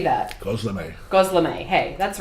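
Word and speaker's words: gözleme: Gosleme.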